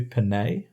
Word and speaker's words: Pinette: I think that's how you pronounce it. I feel like it should be Pinay, but he pronounced it John Pinette.